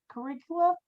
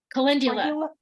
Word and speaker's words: Calendula: What you were just talking about, how do you pronounce that? Caligula? Calendula.